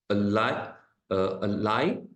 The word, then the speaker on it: ally: hang of it so there are two pronunciation USS a a Li and UK pronation is Ali okay so the first sound is a there it